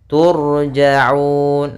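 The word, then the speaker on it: تُرْجَعُونَ: Turja'un. Nah, di sini ra tafkhim atau ra tebal, yaitu ditandai dengan ra yang sukun didahului dengan huruf dhammah.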